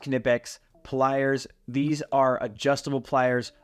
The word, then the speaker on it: Knipex: I'm a big believer okay knipex yes it's pronounced knipex pliers these are adjustable pliers of two different